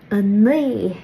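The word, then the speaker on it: a naoi: 9 is a ni, which is probably my favorite number to say. So the trick to saying this number correctly is it's somewhere between a ni and a nui.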